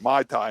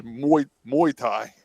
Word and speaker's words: muay thai: hard announcing this wrong i've been pronouncing it mai tai that's a drink this is muay thai is the fighting uh mma and more